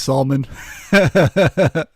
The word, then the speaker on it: Salman: this thanks Salman no now that I know how to say it I'll say salmon Jesus